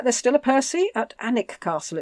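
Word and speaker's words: Alnwick: still a Percy at anic Castle it's pronounced a l n w i c k it's one of these one of these only say half the letters what an IT castle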